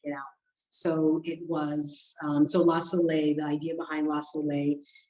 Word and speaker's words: La Soley: So I should mention the correct pronunciation for my company is La Soleil. And it is spelled, Soleil is sun, and it's spelled the Creole way because I am a first generation.